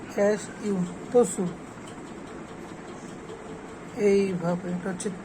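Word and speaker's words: つ: এর মত যেভাবে চি এইভাবে টি এস ইউ তসু এইভাবে এটা হচ্ছে তে এইভাবে এটা হচ্ছে তো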